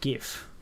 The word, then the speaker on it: GIF: floats you back so do you pronounce it gif or gif oh I know it's meant to be pronounced Jif but I call it gif yes I am like